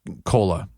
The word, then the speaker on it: Kola: Her name was Kola, which is a Lakota word for friend, and it's spelled Kola.